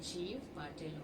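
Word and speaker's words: Gieve Patel: But as far as my idea is concerned, as he belongs to India, so it must be Jeev Patel only.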